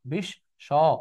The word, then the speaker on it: বিশ্ব: এখন দেখি আমরা, বিশ্ব শেষে একটা কি আছে, অ আছে। তো অ থাকলে ও হয়ে যাবে স, বিশ স।